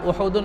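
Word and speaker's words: أُحُد: احد کہا جاتا ہے۔ بہت سے لوگ احد بولتے ہیں، اصل اس کا تلفظ احد ہے، الف کے پیش کے ساتھ بھی اور ہا کے پیش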